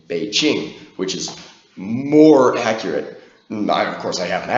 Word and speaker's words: Beijing: p p and that gives us the name be Ching which is more accurate I of course I